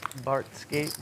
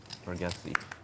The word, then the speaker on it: Bargatze: You said Nate Bartskate was good. Bargatze. Huh? Bargatze. Oh, that's how you say it? Oh. It's spelled like Bargatze, Oh.